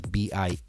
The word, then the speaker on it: Biennale: So it's Bombay Beach is spelled kind of how it sounds. Biennale is Biennale.